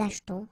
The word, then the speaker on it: achetons: After that, nous achetons, vous achetez. Remember this here is silent or mute, okay?